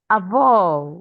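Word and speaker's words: avô: do Avo? Well done. You pronounced it correctly.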